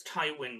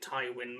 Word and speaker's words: Tywin: said it right uh yeah it's thai wind because i always get taiwan mixed up with um a beautiful